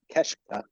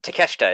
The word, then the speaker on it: Takeshita: Keshta. It's Takeshita, isn't it? Takeshita, yeah.